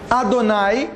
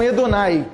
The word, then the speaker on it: Adonai: torna quase não é então pode ser Adonai como nós geralmente sabemos mas podemos pronunciar também assim Adonai o primeiro a tá junto com o sinal do R Então é quase um edonai também não está errado a pronúncia Então o que acontece